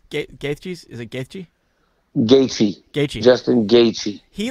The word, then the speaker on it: Gaethje: It was weird because I don't know how do you pronounce Gaethje's? Is it Gaethje? Gaethje.